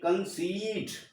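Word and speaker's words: conceit: तो यहाँ पर हमको जो इस ई का उच्चारण है वो यहाँ पर बड़ी ई के रूप में होगा, यानी हम इसको पढ़ेंगे कंसीट, यानी बड़ी की ई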